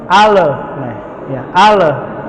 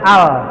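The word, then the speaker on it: ال: tapi saya masih dengar Imam ini membaca lam itu Qalqalah padalan bukan huruf Qalqalah ale-ale harusnya Al Alhamdulillahirobbil alhamdulillahirobbilalamin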